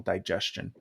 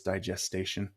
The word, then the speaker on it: digestion: I always pronounce the word as digestation. Um, mm. I but don't know the difference, so it sounds cool I to don't me. So, I don't think there's a difference. I think I'm just pronouncing it wrong.